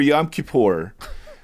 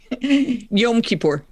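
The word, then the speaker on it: Yom Kippur: But for Yam Kapor. Close enough. Yeah. Um, is it Kipper? Yom Kipur.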